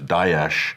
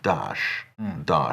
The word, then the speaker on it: Daesh: There's Daesh, which is more accurate. That's the Arabic one. Then there's, I think, David Cameron, Dash, and then there's Dash, and then there's Obama, which is Dash.